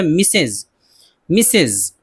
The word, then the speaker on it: Mrs: اس طرح ساتواں ہے شادی شدہ عورت کے نام یا عرف سے پہلے MRS کا لفظ استعمال ہوتا ہے جس کا تلفظ ہے مسز.